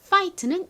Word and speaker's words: fight: 티가 등장해요 자 싸우다 파이트는 이렇게 씁니다 같이 써 볼게요 f I fine 그리고 허깨비 gh 마지막 티 한 번 더 써볼게요 s I fine 소리가 안 나는 gh 그리고 따라해 보세요 파이트 파이트 싸우다라는 의미입니다 그래서